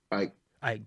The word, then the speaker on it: Icke: Ike, David Icke. Like Tina Turner.